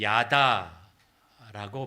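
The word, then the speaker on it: ידה: 번째 그 감사라는 단어가음 히브리어로 야다라고 발음이 됩니다 근데 다라고 하는 말은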